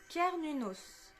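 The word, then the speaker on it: Cernunnos: pas bien au niveau du nom c'est alors prononcé kernunos appelé également Hern est un dieu ser cel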